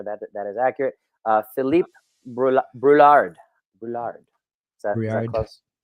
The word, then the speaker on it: Brouillard: Brouillard. Is that close? Brouillard. Yeah. Brouillard. My wife speaks French, and anytime I pronounce like bon appetit, she's like, no, you don't say the T at the end.